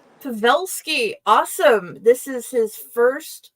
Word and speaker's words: Pavelsky: I should have asked if I am pronouncing that right before the show. It's completely fun. It's pronounced Pavelsky, but you got close to it. Pavelsky, awesome.